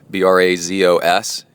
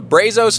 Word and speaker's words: Brazos: And it's one of those, Brazos is one of those words that if you're a local, you say it correctly, and you can tell if somebody's not a local because they say Brazos.